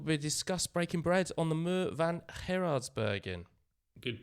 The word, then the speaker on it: Muur van Gerardsbergen: And we'll discuss breaking bread on the Muur van Gerardsbergen. Good pronunciation there, well done, yeah.